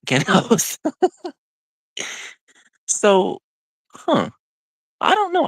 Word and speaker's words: Genos: In Japanese, and I'm not kidding, that would be pronounced Genos, not Genos.